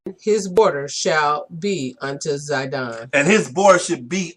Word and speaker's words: Sidon: It's really Sidon because the Z is normally, we kind of pronounce it with the S.